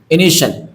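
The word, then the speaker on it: initial: टी टी आई ए का उच्चारण भी हम लोग यहां पर श ही करते हैं।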